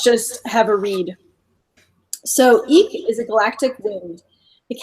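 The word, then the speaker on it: Ik': So the qualities of this card is pronounced Eek, E-E-K, are spirit, breath, wind, inspiration, truth, presence, integration of polarities, co-creator of reality, simplicity, unseen forces, integration, and focused intent.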